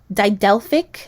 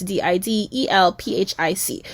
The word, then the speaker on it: didelphic: that at the age of 20 she had didalfic a die delphic did delphic didalfic uterus i'm pretty sure i'm pronouncing it right if not it's very similar if you guys care how it's spelled it's d-i-d-e-l-p-h-i-c so she had a didelphic uterus um uh